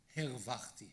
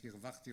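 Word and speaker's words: הִרְוַחְתִּי: He writes a few years ago about hervachti, hefsadati, instead of hirvachti or hifsadati.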